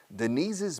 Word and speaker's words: Denise's: Añado una sílaba más. Denise, apóstrofe S, Denise's.